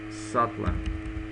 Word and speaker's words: subtler: just did the wrong thing um Satler the pronunciation is subtler so subtle means um excuse me okay